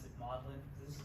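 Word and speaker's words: Magdalen: uh this is a picture of looks like magdalin but they pronounce it modlin this is modlin college at Oxford which was taught um and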